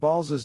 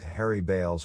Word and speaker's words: Baals: the butt of all national jokes they couldn't pronounce the name as bales either which is what Balls's descendants call themselves these days because Harry Baals